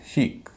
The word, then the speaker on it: chic: इसी तरह CHIC, इसमें सिस्टर वाला पैटर्न है, SIS वाला पैटर्न है, बीच में आई है, दोनों तरफ कॉन्सोनेंट है, लेकिन इसका उच्चारण छोटी ई नहीं होता, बड़ी ई होता है।